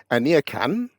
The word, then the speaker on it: Aniekan: so my name is my first name is pronounced anakan and the surname is